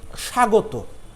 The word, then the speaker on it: স্বাগত: এরপরে স্বাগত, স্বাগত বানানে শয়ে ব যুক্ত রয়েছে, হ্যাঁ। তারপরে গ ত, স্বাগত বানান, কিন্তু আমরা যখন উচ্চারণ করছি তখন সা গ তো, তয়কারে তো, এখানে ব এর কোনো উচ্চারণ নাই।